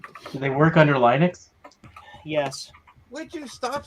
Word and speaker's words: Linux: they also work under Linux was which is what it's actually called thank you I had I had a friend in high school who kept pronouncing it leonix so it was his